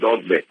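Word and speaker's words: Dogboe: Dogbe will be Dogbe, pronounced Dogbe.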